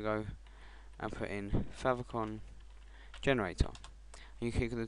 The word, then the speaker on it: favicon: this i'm going to go and put in favicon generator you click on the top one that